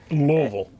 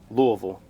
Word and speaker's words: Louisville: Louisville. Louisville. That's that's the pronunciation, right? There is no S. That's the pronunciation of a Louisian s in the spelling. It's silent. It's silent. This is Louisville.